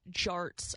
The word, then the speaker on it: Jarts: It's Jarts. I was pronouncing it incorrectly. I was pronouncing the J as a Y. Yart sounded better like yard darts to me.